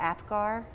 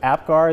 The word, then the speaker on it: Apgar: what they do so am I saying it right the Apgar so that yes so Apgar is done basically instantaneously